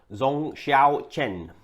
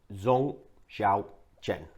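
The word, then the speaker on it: Zong Xiaochen: And apparently, it's Zong Xiao Chen. Zong Xiao Chen.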